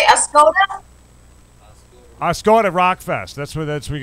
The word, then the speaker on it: Oscoda: Yeah, I want the Oscoda. Yeah. The walker all over the top. The A Scada. A S C A D A. Oscoda. Oscoda. It's Oscoda, and so now you guys can say it right.